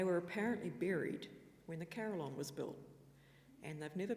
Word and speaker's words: Carillon: And secondly, is that really how you say it? To answer the second question first, yes, that is actually how you say it. That's how it's spelt, and that's how the National Carillionist pronounces it.